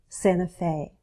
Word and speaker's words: Santa Fe: the Land of Enchantment notice how I drop the T and Santa Santa Fe you don't have to but it's very common just like we dropped